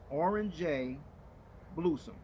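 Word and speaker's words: Oranjebloesem: this aircraft here is orange a bluesome that's how it's pronounced in dutch orange orange sorry about that orange bluesome is actually the dutch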